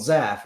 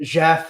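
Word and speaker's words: Zhaff: and in various there's a character called zaf which is z-h-a-f-f that was always his name and then i didn't even put it in the pronunciation list because i like i didn't want to spell it z-a-f-f because that looks stupid the h makes it look cool rc braver read it jeff the whole book and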